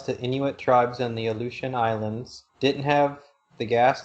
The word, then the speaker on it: Aleutian: sea, flew supplies to Inuit tribes in the Aleutian Islands, didn't have the gas to get to